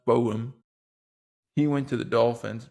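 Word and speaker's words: Borom: like seeing him go Larry I believe is pronounced Bowm he went to the Dolphins Matt Prior went to the Eagles.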